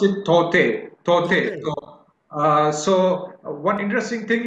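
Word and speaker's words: Tauktae: Tok Tae. You pronounce it Tote.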